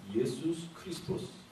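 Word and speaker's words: Ἰησοῦς Χριστός: 이것을 정확하게 우리가 헬라어로 발음을 하면 예수스 크리스토스 이렇게 발음을 해야 됩니다. 그런데 이 예수스 크리스토스를 우리가 한국식으로 발음을 하니까 예수 그리스도 이렇게 된 겁니다.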